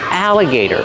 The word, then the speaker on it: alligator: a crocodile or an alligator how do you pronounce alligator alligator use the short a like black cat a a Al aligator alligator the t is a fasty Gator Gator alligator so tell me is